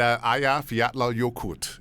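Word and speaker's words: Eyjafjallajökull: Today Show wow and Aya fat yokut is the name of the volcano but it if you were trying to say it phonetically from the spelling yeah no way no way and uh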